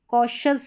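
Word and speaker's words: cautious: तो यहाँ पर देखिए कॉशस है, कॉशस TI है, या ऐसे भी आप याद रख सकते हैं कि TI है।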